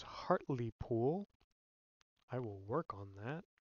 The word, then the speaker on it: Hartlepool: of our own team been informed it is hartley pool i will work on